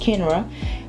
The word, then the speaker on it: Kenra: touch it up and this here and it's pronounced kenra and this lion is on Amazon and this